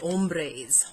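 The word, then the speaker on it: ombrés: So first things first is the blush ombres.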